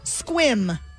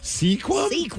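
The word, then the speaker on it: Sequim: First time I saw that, I was like, "Sequam? What the hell is a seaqu?" And then they're like, "No, it's pronounced squim."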